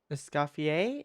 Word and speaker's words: Escoffier: Escoffier?